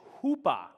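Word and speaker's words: chuppah: it together it looks like they're pronounced as chappa we'll put it up on the screen here but we're going to pronounce it as as hoopa so on the count of three i want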